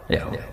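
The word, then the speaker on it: Yahweh: tuhan Yahudi tunggal niku Yahwe nopo Yahwe nak teng ejaan latin Y besar a H besar W e H besar Yahwe lah Yahwe u N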